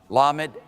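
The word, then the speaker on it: lamed: here's the schwa so our first consonant is la med l just say that wait with me lammott l and then here we got a schwa the SWA is silent another silent are you kidding me why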